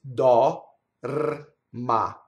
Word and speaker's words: dorma: with glides in English so do is dal ma right so if we do the word slowly da da da da and that's the whole word a in Italian printed